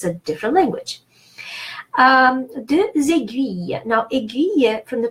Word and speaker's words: aiguille: So, first you need to know that G followed by U is pronounced G and not J. And then U. So then U and E is one of the diphthongs in French that is the hardest.